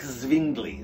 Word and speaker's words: Zwingli: And the fighting becomes so serious that the local town priest, Ulrich Zwingli, okay, or Uldrich, I don't know how you say it in Swiss dialect, but it's Z-W-I-N-G-L-I, Zwingli, steps in on the matter.